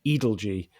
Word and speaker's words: Edalji: the edelge case and we now know it's uh pronounced edelge as a result of a letter that that george wrote that that that's included